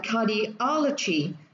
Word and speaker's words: cardiology: 2 3 4 5, và cái âm tiết mà nó nhấn vào sẽ là âm tiết thứ ba, và mình sẽ đọc là cardiology.